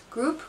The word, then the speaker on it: group: gr you know how which one group gr group gr group gr and you look and the pronunciation is group so that's how do you